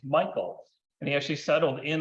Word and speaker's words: Michel: But after that, he came over to the US and he changed the pronunciation of our last name from the German sound name Michel to Americanized Michael.